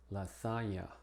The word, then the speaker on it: lasagna: En palabras que provienen del francés o italiano, como cognac, lasagna, monsignor, signorina.